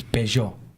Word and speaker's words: Peugeot: It's Peugeot, and I is believe it French?